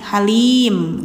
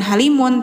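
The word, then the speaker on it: حَلِيم: maka mimnya jadi mati halim gitu. Jadi harus dimatiin gitu ya. Jadi jangan halimun tapi halim. Nah panjangnya itu dua harakat sampai 6. Jadi bacanya boleh halim atau halim boleh.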